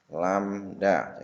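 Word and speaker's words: lambda: namanya satu Blumbang atau satu lamda ini tadi membacanya adalah lamda di satu gelombang atau satu lamda jadi jarak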